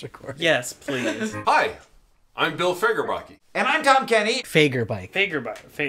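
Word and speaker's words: Bill Fagerbakke: Wait, Bill Fagerblake is in this? What's his name? Bill Fagerblake. No, it's not. Yes, it is. Look. Look. That's not how you pronounce it. Oh, Fagerbake.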